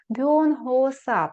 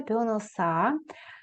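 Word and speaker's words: 변호사: Бонгооса пишеться. Бьоноса. Читається.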